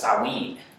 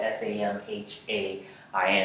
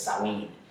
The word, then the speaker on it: Samhain: The Fall Harvest Festival was in the Scotch Gaelic language of the Kelts, referred to as SAH WEEN, spelled S-A-M-H-A-I-N. Sometimes you'll see it here mispronounced Samhain, but it's SAH WEEN.